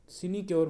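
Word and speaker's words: sinecure: ये वर्ड है आपका साइनक्योर, सिनक्योर, ओके, सिनिक्योर, सिनिक्योर वर्ड बोला, इसकी प्रोनाउंसिएशन होगी सिनिक्योर।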